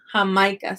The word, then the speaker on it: Jamaica: I don't think we have an I, but in Spanish they put an I for the word for the country Jamaica. They pronounce this Jamaica. Jamaica. So that's just an example of the J sounding like an H.